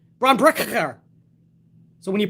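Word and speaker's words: Bron Breakker: Lots of next generation debuts last night as well, including Rick Steiner's son, Braun Breaker, with 2 Ks, I believe.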